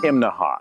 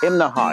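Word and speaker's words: Imnaha: this morning we're in imaha now that's three syllables imaha you have to say it that way or people in town will laugh at you right behind me that's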